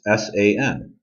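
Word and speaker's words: 三: the fourth time r the third number number three is three letters long it's s-a-n it's first Home San so the number three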